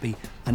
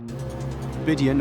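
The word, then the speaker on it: Bidean: mountains in Glen bidan or Bean as it's pronounced is um the highest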